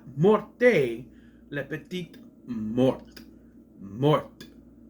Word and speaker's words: mort: it right it says morte it's not morte Le Mort Mort you don't pronounce the E it's Mort I know that's confusing